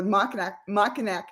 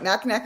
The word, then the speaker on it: Mackinac: So sounds like this book is a perfect opportunity for you guys to go to Mackinac Island. I didn't say it right. Mackinac Island for the holidays.